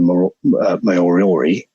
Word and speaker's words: Moriori: indigenous people of New Zealand were called the moriori I pronounce that right yeah I think they muri